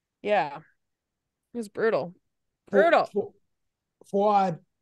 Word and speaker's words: Fouad: Fouad, I'm sorry. I mispronounced that. Yeah. No, you got it right. Actually, you did. Fouad.